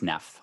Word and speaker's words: Naef: And not that I'm going to listen to you, but do you prefer your last name to be pronounced Neff or Naef? It's Naef. It is Neff.